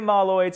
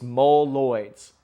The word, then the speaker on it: Moloids: the fantastic four set i kept on saying maloids and people kept on calling me out and they said it's mole man it's mole lloyds and i look at